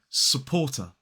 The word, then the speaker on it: supporter: So supporter, not supporter. So it is supporter. So as an isolated word, this word has 3 syllables and 2 schwas.